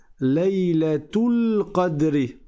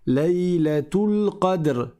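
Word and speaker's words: ليلة القدر: Si tu fais la liaison, tu prononces le ta marbouta. Le ta en fait, tu dis Laylatu, Laylatul Qadr.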